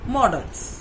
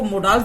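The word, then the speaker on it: models: हम क्या कहते हैं, मॉडल्स। कई लोग गलती से इसको मोडल्स भी बोलते हैं, ये बिल्कुल गलत प्रोनाउंसिएशन है। We will call it मॉडल्स।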